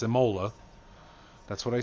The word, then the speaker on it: Imola: or like zorax and tell me how to pronounce things it's imola that's what i said so your dad didn't